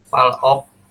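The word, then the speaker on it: 팔억: Palok. Nah, betul ya, palok. Terus kita penggal di sini supaya memudahkan untuk membacanya. Kita penggal lagi, jadi 2 kali pemenggalannya ya. Pal ditambah dengan ok.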